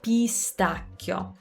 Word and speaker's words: pistacchio: it pistachio pistachio and that i before the o it's kind of like the word grazie it's not grazie it's a half vowel would treat it like a y like a pistachio pistachio so you're just putting a little y in it and you're focusing on